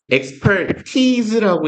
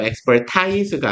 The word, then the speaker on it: expertise: expertise라고 읽어요. expertise가 아니라 전문 지식입니다.